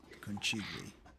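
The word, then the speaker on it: Conchiglie: I don't know how to pronounce it. Kigli.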